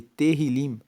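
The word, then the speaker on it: תהלים: O livro de Salmos, no original, no hebraico, ele é chamado de Tehillim. Se escreve T-E-H-I-L-I-M.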